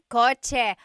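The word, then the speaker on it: kotse: The cha-ch sound is a ts combination. Coch car is coch with a ts spelling.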